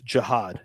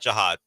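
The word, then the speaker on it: Jihaad: Can they The pronunciation guide is right here. It's Jiad. Jiad.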